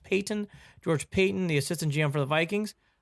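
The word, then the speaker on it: Paton: For people who are wondering, where's this George Patton? Or I think it's pronounced Payton.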